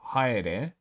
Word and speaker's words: haere: Just like how haere is ha, e, re, instead of haere, in the sense of it being 2 syllables, which is why we